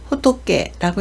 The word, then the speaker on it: 仏: 한 개 있을 때는 호토케라고 읽어서 부처나 석가를 나타냅니다.